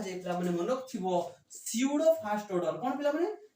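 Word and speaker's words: pseudo: biology रे पढी थिबो स्यूडो पडिया सेठी पी साइलेंट रहउतला के रहउतला जेमति सुनामी सुनामी रे spelling cone T एस यू एन ए एम आई हमने टी रे साइलेंट से बोला स्यूडो पडिया पढी थिबो एमओ बा पाखरे बायोलॉजी रे से बोला पी स्यूडो एठी देखो आको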